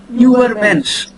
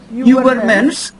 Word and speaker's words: Übermensch: Where you round your lips and try to pronounce E, then the sound that comes is U. So that is the German U. Übermensch may be translated as overman in English.